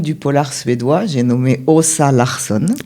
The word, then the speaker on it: Åsa: J'ai nommé Åsa Larsson. Ça s'écrit avec un A et un petit... Un A et un petit rond au-dessus, ce qui se prononce O.